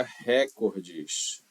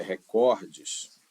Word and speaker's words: recordes: Essa palavra não diga recordes como você tá acostumado não é diga recordes Essa palavra não é acentuada na terceira sílaba contando de trás para frente não é não ela